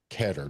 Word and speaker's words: Ketter: Like to welcome to the show all the way from Philly, Cat Keter. Did I pronounce the last word right? Is it Kater?